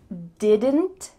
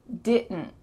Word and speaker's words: didn't: Should you say didn't? Didn't? Yeah, it's okay. It's clear. But when native speakers are speaking quickly, you're not going to hear all of those sounds. Instead, you're going to hear, wait for it, didn't. Didn't. It's really two cut short sounds. Didn't. And the is going to be in your throat.